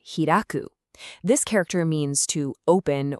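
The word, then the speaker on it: 開く: So this one here is kai, and as a verb, it's pronounced hiraku.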